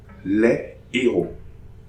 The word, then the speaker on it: héros: Examples: Les héros. Les héros. No liaison between les and héros.